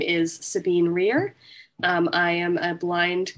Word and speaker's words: Sabine: So we're going to start with, now I have Sabine, as Jaws is pronouncing your name, but is it Sabine? Yes, it's Sabine.